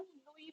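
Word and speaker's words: Louis: मिलेगा इस तरह से, बट दोनों का ही प्रोनाउंसिएशन लुई पढ़ा जाता है। मतलब ये लोग प्रोनाउंसिएशन जो करते हैं ना इसका लुई करते हैं। ठीक है, लुइस नहीं, साउंड एस की आती नहीं है।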